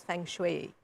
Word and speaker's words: feng shui: feng shui well feng shui is in fact pronounced as feng shui okay so origin is china about 4 000